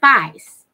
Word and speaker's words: feist: him fast these spikes I've been saying it wrong fit Feist all right so now I got it so the face